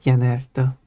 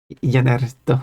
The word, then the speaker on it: Jannertto: For some reason I pronounce it with Jannertto, which is wrong. But Jannertto. There we go. It's not wrong. It's an alternative Fair. pronunciation. It's just fair then. There's the right way and then there's the English way.